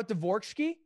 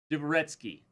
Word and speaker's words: Dvoretsky: You know, Dvorsky? Dvoretsky. Do you ever bring me up? Like, do you ever, like... Don't mispronounce...